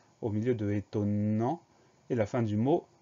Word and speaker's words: étonnant: N au milieu de étonnant. Et la fin du mot, en, A-N-T. Le son en s'écrit N. Et à la fin du mot, on a un T muet qu'on n'entend pas, mais qu'on va retrouver dans étonnante.